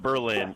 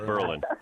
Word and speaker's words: Berlin: It's not Berlin, it's Berlin.